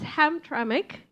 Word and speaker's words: Hamtramck: about pronunciation now you know that it is pronounced hamic it's like At first we want to pronounce it as Hamra but like where the M like so it's it's hamic a city in Michigan yeah a city a